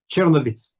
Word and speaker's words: Chernivtsi: You were born in Chernivtsi. Did I say it correctly? Chernovitz.